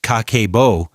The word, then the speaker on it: Kakeibo: Pronounced Kakeibo, it literally translates to household financial ledger.